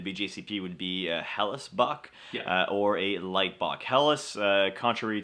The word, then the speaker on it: Bock: Bock and box is because of their pronunciation of I'm back I'm back with their dialect is pronounced I'm buck and I'm buck roughly translates a billy goat so that's one of